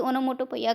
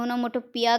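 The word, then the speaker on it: onomatopoeia: ओनोमोटोपोइया, ओनोमोटोपोइया को आप सब लोग प्रोनाउंसिएशन अलग अलग कहते हैं कि ओनोमोटोपोइया करते हैं, ओनोमोटोपिया कहते हैं, बहुत ज़्यादा प्रोनाउंसिएशन होता है, लेकिन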